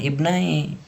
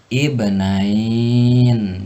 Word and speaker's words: ibnain: Adapun ketika kalau terpaksa harus mewakafkan di dalam lafaz ibnai ini, maka dibacanya jangan ibnai, tapi ibnain. Jadi seperti itu. Watslu alaihim naba'a banain, yaitu dengan ditambah nun pada ujung lafaz.